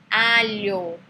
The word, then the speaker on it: aglio: E aí vem a palavra G, a sílaba GLI, que tem som de LH. Então, a palavra embaixo fala alho, não aglio.